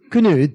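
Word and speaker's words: Cnut: His name is spelled C-N-U-T, the Great. Knut.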